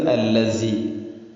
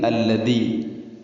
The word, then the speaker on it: الذي: അല്ലദീ കദ്ദബ വതവല്ല, ഇവിടെ അല്ലദീ എന്നത് അല്ലസി അല്ലെങ്കിൽ അല്ലദീ. കദ്ദബ എന്നുള്ളത് കസ്സബ അല്ലെങ്കിൽ കദ്ദബ. ചുരുക്കത്തിൽ ദാലോ സായോ ആവുന്നതാണ് ഏറ്റവും കൂടുതലായിട്ട് തെറ്റ് വരുന്നത്. അപ്പോൾ അല്ലദീ കദ്ദബ വതവല്ല അങ്ങനെ തന്നെ വായിക്കണം.